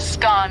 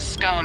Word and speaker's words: scone: Both scone rhyming with gone and scone rhyming with bone are accepted pronunciations, though regional variations exist.